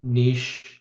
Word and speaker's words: niche: And the one thing to reinforce is that regardless of how niche (pronounced "neesh") or niche (pronounced "nitch") your operation is, you're not immune to the markets ebbs and flows of trucking.